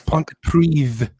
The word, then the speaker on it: Pontypridd: end Oh, is Pontypridd.